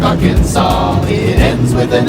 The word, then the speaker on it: Arkansas: The S is silent in Des Moines, Iowa, and also in Little Rock, Arkansas.